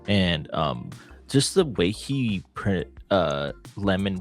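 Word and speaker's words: Lemmon: And just the way he Lemon pronounces, it's Lemon, right?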